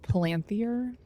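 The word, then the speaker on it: palantír: Pronounced Palanthier.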